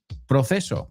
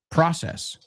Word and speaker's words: process: Proceso. People say proces. I get it, porque la C es en español, pero en inglés tienes que verlo como una S. Process.